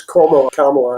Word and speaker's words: Kamala: One person that hugely impresses me is Kamala Harris. And I'm pronouncing her name right. She's like a pains to remind people that it's Kamala, and she should know how to pronounce her own name.